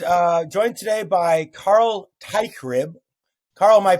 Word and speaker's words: Teichrib: my right and uh joined today by Carl TYB Carl am I pronouncing that correctly I'm trying to use my